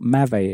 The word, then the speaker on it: m'avez: familiar with these abbreviations, you might wonder what m'avez is.